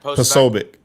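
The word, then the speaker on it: Posobiec: we think have you guys seen I always mispronounce his last name and I feel bad that Jack POC Jack Jack posic yes po thank you poic what he shared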